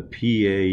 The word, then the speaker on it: pie: Pie Jesu Domine dona eis requiem, dona eis requiem. So in the first word, pie, the E vowel, or the second syllable, pie, is more closed, pie.